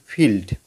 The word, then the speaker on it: field: তাহলে এখানে এই আই ই এর উচ্চারণ কী হচ্ছে? এখানে দেখো আই এর উচ্চারণ হচ্ছে হ্রস্ব এর মতো। ঠিক আছে, এফের জন্য ফ, আর আই এর জন্য এটা হচ্ছে হস্যি। হ্যাঁ, আর LD লয় ডয়, ফিল্ড।